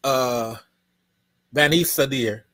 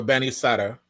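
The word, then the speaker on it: Banisadr: This is Bani Sadir, or Bani Sadr, depending on how you want to pronounce.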